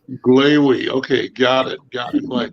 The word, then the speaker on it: Glavy: Pleased to have Glaw. How do you pronounce it? You were on the right track. It's Glavy, Rhymes with Gravy. Glavy.